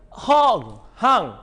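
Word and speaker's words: Hung: You won yourself 2 cans of abalone, and the winner is Hong. Hong. I have my friends pronounce H-U-N-G as Hong.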